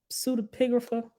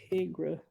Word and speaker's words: Pseudepigrapha: How do you pronounce that word? The pseudoscience books of the Bible. How do you say that name? Pseudepigrapha. Hold on, y'all. Look. Thank y'all for the birthday wishes. Hold on. Pseudepigrapha.